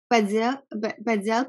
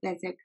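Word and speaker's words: Bézier: Bezier curve? Bezier. Oh, Bezier.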